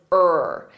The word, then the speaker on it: her: word it to her but we pronounce it as ER so it will sound